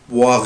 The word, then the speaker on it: boire: يبقى انا بنطق الاو اي او الاو اي بنطقها boire يعني يشرب برضو فيرب irrégulier يتحفظ زي ما